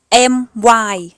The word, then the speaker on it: my: ออก เสียง เย่อะ แต่ ถ้า Y อยู่ หลัง พยัญชนะ ต้น และ คำ ๆ นั้น มี พยางค์ เดียว จะ ออก เสียง เป็น สระ ไอ หรือ สระ อ ค่ะ ยก ตัว อย่าง เช่น